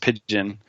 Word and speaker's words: Pyjion: He came up with Pigeon, which is spelled Pyjion. It throws everyone for a loop until Dino or I tell them it's pronounced Pigeon.